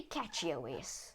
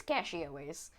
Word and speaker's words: CachyOS: I probably should enable secure boot, but apparently catchy OS is I keep wanting to say catchy OS. I think it's cachy OS.